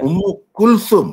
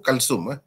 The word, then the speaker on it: Ummu Kulthum: Ummu Kulthum bacanya. Ummu Kulthum. Kita orang Melayu sebut Kalsum.